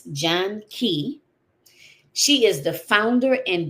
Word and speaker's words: Janki: So, let me make sure I get I'm pronouncing her name correctly. It's John Key.